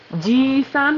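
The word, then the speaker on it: じいさん: And just letting Anthony know this from a previous line, ji-san with a long e is grandpa, not uncle.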